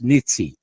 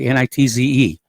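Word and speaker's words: Nitze: the missile destroyer USS neat sea I think it's pronounced that way NIT ze then as oil and defense minister vladimir Padrino has warned the u.s.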